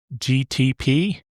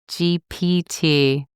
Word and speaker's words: GPT: GTP. Did I say it right that time? GPT. GPT. I don't know why I keep calling it GTP.